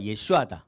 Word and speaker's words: 예슈아: 그리고 여러분 말할 때 말씀하실 때 예수님이라고 예슈아입니다 원래 수님 이름이 예수다 예슈아 예슈아 근데 왜 예수라고 하냐면 바울이